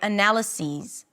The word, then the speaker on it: analysis: I've submitted my analysis.